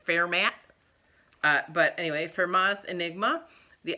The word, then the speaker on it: Fermat: The next book I read, also a library book, was Fermat, if you speak French, or Fermat, if you grew up in the Midwest, going to prestigious Midwest universities, you pronounced it Fermat.